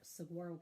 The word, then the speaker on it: saguaro: the fun cactus I love the squirrel cap saguaro cactus not shirk that's how you say it